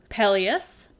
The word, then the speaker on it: Peleus: Peleus, and that's Peleus, not Peleus. That sounds the same when I say it. One is spelled E-U-S, that's the good one I'm talking about, and the hero on the ship, and one is spelled I-A-S, and he's the bad one, who's the bad guy in the story.